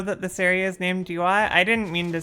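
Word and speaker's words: Duat: Do you not know that this area is named Dyat? I didn't mean to say it like that. D Y A T is the name of this area. Dyat.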